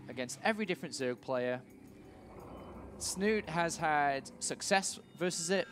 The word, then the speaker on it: Snute: Team Liquid it is sno sno I'm pretty sure that's actually very close to how you pronounce his name yeah in in Norwegian but everyone just calls him snoot though yeah Su snoot